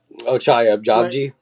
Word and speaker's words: Ochai Agbaji: Oh, Ochai Agbaji.